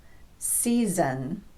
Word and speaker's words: season: Now, in season, that second S occurs after a vowel. All vowels are voiced, so the second S will be pronounced z, season.